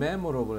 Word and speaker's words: memorable: 이거는 memorable 해서 앞에가 앞에가 있고 이건 앞에 있고 이건 뒤에가 있어.